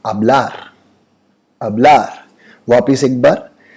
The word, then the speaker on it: hablar: hablar वापिस एक बार, कभी भी स्पेनिश में कोई वर्ड एच से शुरू होता है तो एच हमेशा साइलेंट होता है और हमेशा ए से हम लोग उसका प्रोनाउंसिएशन करते हैं। लिखेंगे HABLAR लेकिन बोलेंगे ABLAR, that is hablar। H is always silent.